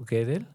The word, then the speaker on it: Gödel: Yo lo pronuncio Gödel. Gödel es G-O diéresis E-D-L. Es Gödel o Gödel.